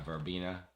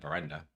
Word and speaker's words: Veranda: here is the uh verbina Vera blend mirenda like iess I got I said it wrong sorry about that verenda right yeah that's the verenda